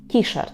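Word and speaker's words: T-shirt: також слово тішарт тішер записуємо на англійську манеру вимовляємо ті шорт тішарт з наголосом на ті кішерт якщо на футболці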